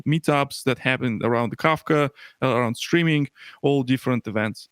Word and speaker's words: Kafka: I always say Kafka. That's what my friend Gwen Shapiro always tells me. Okay. I trust Gwen's pronunciation of her own company's product. Pronounced Kafka, like cough drops or coffee.